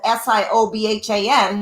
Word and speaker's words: Siobhan: see my name there it's called s-i-o-b-h-a-n but it's pronounced siobhan so people would make